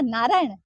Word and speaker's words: नारायण: जब आप बोला नारायण, आप आगे बोला नारायण। जब थे सही प्रोनाउंस को नहीं करो तो भगवान आसी खटो, प्रोनाउंसिएशन तो करेक्ट होना चाहिए। तो जब भी आप बोले नारायण, न तालु पे टच होता है।